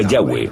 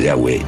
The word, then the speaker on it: Yahweh: Pensamos que probablemente se pronunciaba Yahweh o algo así.